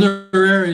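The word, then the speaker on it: Chizarira: Chisarira, am I pronouncing that correctly? Chisarira, yeah.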